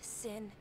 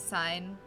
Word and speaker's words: Sin: in it i'm disappointed sin is pronounced sin and not sign like that math thing oh my god it